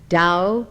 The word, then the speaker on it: Tao: concepts of the book dao meaning way it is spelled t a o der meaning virtue or